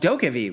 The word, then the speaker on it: DokeV: So, during Gamescom 2021, a long trailer for a game called DokeV was unveiled. And yes, that's how you pronounce it.